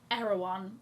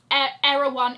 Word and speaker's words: Erewhon: that comes in the Erewhon bottle that says Balenciaga down the side. A leather version of the paper Erewhon. It's spelled Erewhon, but I feel like people pronounce it Erewhon.